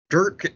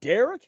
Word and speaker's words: Derk: Derk M. Is it Derek? No, it's not Derek.